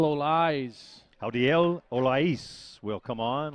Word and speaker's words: Olais: Howdiel Olais.